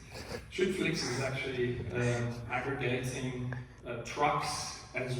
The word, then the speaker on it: Schüttflix: Another one which I think is really nice, it's very hard to pronounce for non-Germans, so bear with me, it's called Schüttflix. Schüttflix is actually aggregating trucks as well as sand